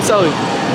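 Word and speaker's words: Sely: I'm Sally. Spell it, please.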